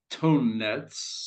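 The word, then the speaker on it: Tonnetz: a German word pronounced tone Nets so you say tone like tone which is good yes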